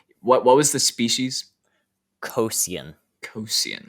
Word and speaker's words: Cosian: jedi lord wait what what was the species cosian cosian like i can i can spell it out c-o-s-i-a-n uh yes that was very